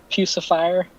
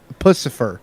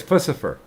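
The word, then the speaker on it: Puscifer: the lead singer of piece of fire would you shut the up and kill yourself no no it's not pronounced piece of fire it's pussyfur yeah it's pussyfur oh whatever jesus christ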